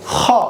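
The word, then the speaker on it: خ: পরবর্তী হরফটি হচ্ছে খেন খ একটু বাতাস গহবরের সাথে একটু লাগিয়ে বের হবে যেমন খ এভাবে আমাদের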